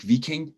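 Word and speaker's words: Wiking: danish way of little being well by mike v king and it is even though it has a w it's pronounced as a single view v in in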